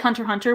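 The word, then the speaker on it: Hunter × Hunter: asked man man x-men i wonder if it's like hunter hunter where the x is silent but uh they said man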